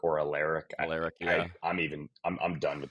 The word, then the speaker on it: Alaric: The Rams pronunciation guide says Alaric Jackson. People actually argue in the building whether it's Alaric or Alaric.